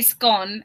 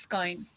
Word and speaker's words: scone: so they're saying it's I say scone and they're saying it's not pronounced like that it's pronounced scone so we say it